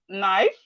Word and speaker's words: knife: And we have knife. Knife, the K is silent in knife.